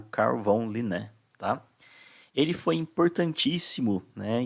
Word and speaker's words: Carl von Linné: Muitos alunos falam carvão, né? Carvão Linné. Não, é Carl von Linné, tá?